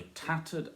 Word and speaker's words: tattered: The tattered outlaw of the earth. Tattered, definitely stress on the first.